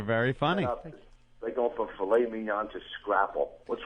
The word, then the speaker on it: filet mignon: I don't like the fact that the first time you said that word recently, it was probably filet mignon. You just wanted to say a word with a silent T to prove you could do it.